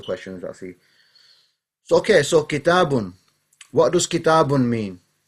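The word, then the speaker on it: كتابٌ: say it properly inshallah so kitab is fine but the proper way of saying it is kitabun so when i go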